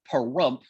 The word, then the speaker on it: Pahrump: of the town of pahrump which rhymes with dump and visit ash meadows